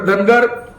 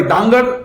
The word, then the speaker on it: धानगड: आपण जर पाहिलं तर धनगर सॉरी धानगड नावाची एक जमात महाराष्ट्र म्हणून इतर स्टेटमध्ये आहे परंतु यादीमध्ये धानगंगड असा डी एच एन जी ए डी धानगड असं स्पेलिंग आहे आणि हे चुकून आणि